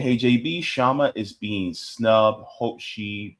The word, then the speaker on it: Kshama: It's Kshama. Just look at it the same way you say knife or night. The K is silent.